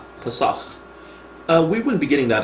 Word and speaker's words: Pesach: Oh, that's Pesach. Pesach.